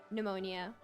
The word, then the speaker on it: pneumonia: Alexandra panomia oh no it's like pterodactyl it's a silent P pneumonia so can someone who